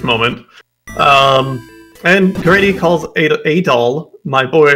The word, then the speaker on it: Adol: mispronounce his name because his name is adol not adl very very important difference but they they keep calling him edel here so welcome to